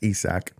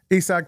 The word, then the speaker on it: Isak: week by the way I called him Isaac apparently it's pronounced isach esak Paredes um I think